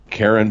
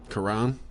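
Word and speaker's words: Caron: nope uh and oh i'm sure i'm not pronouncing this right karen butler k-ron butler c-a-r-o quran quran okay i knew i see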